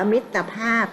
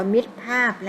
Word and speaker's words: มิตรภาพ: เป็น คำ ว่า มิตรภาพ แล้ว ก็ อ่าน ว่า มิตรภาพ นะ คะ เรา ไม่ อ่าน ว่า มิด 5 นะ ข้อ ต่อ ไป